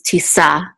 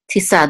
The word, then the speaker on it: Tisa: with it so this is Tisa Tisa this this double um these double lines here is um a Trope Mark um and it's good so we know that the accent marks on the last syllable and that literally means